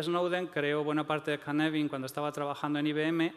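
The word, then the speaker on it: Cynefin: Este marco de aquí, que engaña porque está escrito Cinefin, pero en realidad se pronuncia Canevin, porque es galés, es un orden creado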